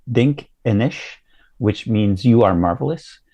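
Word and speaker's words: Dinkinesh: They have the Ethiopian name, I'm going to pronounce it terribly, but I believe it's Dink Enish, which means you are marvelous.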